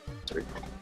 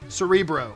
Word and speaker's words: Cerebro: Cerebro. Cerebro. Cerebro. Fantastic. Got a little more American on the pronunciation.